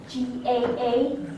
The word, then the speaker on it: GAA: Chuck, I think you pronounce it G-A-A, not gay.